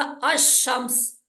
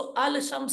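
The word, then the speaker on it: الشمس: है तो यह बनेगा अमस इसको अल शम नहीं पढ़ेंगे अमस समझ आ रही अच्छा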